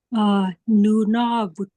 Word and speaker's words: Nunavut: Nunavut, Nunavut.